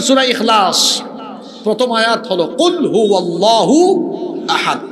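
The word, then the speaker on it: قل هو الله أحد: যেমন সূরা ইখলাস প্রথম আয়াত হলো কুলহু আল্লাহু আহাদ। এখানে কফ আছে। আপনি তো কফের উচ্চারণ কাফ পড়েন। তো কুলহু আল্লাহু আহাদ। সঠিক উচ্চারণে পড়লে অর্থ হয়।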